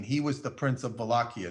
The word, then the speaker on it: Wallachia: The border between, when I say border, I'm talking about the province of Wallachia, spelled with a W, Wallachia. Wallachia is how you say it, and Transylvania.